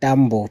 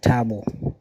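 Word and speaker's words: Thabo: Not Dambo. Tabo.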